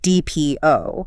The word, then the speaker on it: depot: Or a word like depot, referring to a large storage place or a transportation hub. Your eye sees D E P O T, but your mouth has to say D P O.